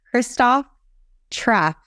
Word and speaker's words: Christoph Trappe: So anyone that's seen this on the recording, oh my goodness, I have Christoph Trappe. Is that how you pronounce your name? That's how you pronounce it.